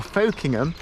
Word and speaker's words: Folkingham: not far from the village called Buckingham we would call it locally or folking them people who look at the way it's spelled might say it not far from aslikely